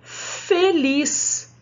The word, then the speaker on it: feliz: A palavra feliz, feliz. Olha a sílaba lá, ó. Feliz. Sem acento, o som do E, fê.